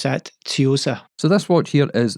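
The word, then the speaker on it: Tsuyosa: We pronounce that Tiosa.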